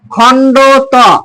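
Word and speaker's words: খণ্ড ত: অন্তস্থ ধনি এরপর আসেন খন্ডত অনেকে খন্ডের উচ্চারণ করে অনেকে খন্ডের বলে আসলে খন্ডের সঠিক উচ্চারণ নয় ও সঠিক উচ্চারণ হচ্ছে খন্ড ত খন্ড মানে অর্ধেক ত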